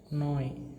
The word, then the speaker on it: neu: So applied here in N becomes na, and E and U gives rise to the sound of oi. So the whole word becomes pronunciation as, the pronunciation of this whole word becomes now as noi, right? Noi.